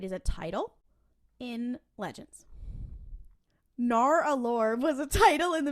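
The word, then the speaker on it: Nar'alor: It is spelled Nar apostrophe Alor. Naur'alor. Oh wow. Naur'alor.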